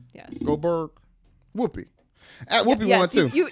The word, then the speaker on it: Goldberg: It's not Goldborg. Goldberg? Yes. Goldberg. Whoopi. Whoopi won too. You easily could have just She was said the other Whoopi. one, Whoopi. We know Goldberg.